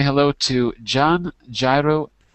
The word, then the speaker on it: Jairo: And let's say hello to John Gyro, how do you say your name? John, the name is John Jairo. John Jairo. Jairo. No, Hello, John Jairo.